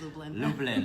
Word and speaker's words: Lublin: Did I say it right? Lublin? Yes, it's Lublin. Lublin.